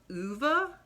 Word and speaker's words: Ove: a man called old which i think is supposed to be pronounced uva um and he says